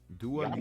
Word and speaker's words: Dua Lipa: Dua Lipa. That is how you. Yeah, I watched the video on how to pronounce her name by her because I was like, how you say this whole No.